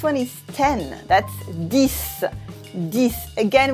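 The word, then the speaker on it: dix: is ten that's this this again we don't say the X at the end we replace it with an S sound this that's for ten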